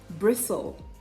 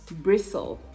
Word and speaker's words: bristle: the t appears in the middle but it is silent and then you have it in bristle bristle hustle hustle not austo hustle whistle whistle no